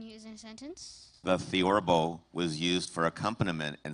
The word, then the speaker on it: theorbo: Your word is theorbo.